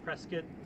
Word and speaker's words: Prescott: Um, but then like recently we discovered uh Prescott or Prescat I think is how they the uh the locals say it. Uh Prescuit, Arizona, which is at like over 5,000 ft.